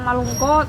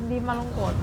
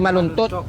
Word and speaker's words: malungkot: Ate Tintin, huwag kang malungkot. O hindi malungkot. Hindi maltot.